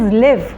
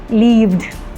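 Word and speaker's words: live: लाइक there is one word very common word that is लिव। लिव, वी लिव in Pakistan but unfortunately majority of the participants pronounced it लीव्ड। इट्स नॉट लीव्ड।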